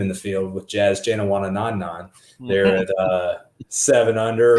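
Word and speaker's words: Janewattananond: the best name in the field with jazz jana wanna non-none they're at uh seven under is that how you say it that is how you say it jenna wanted none i had to look up the phonetic uh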